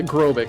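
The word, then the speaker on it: Grobyc: a magnet yeah yeah aerobic that's how you pronounce it grobik is a super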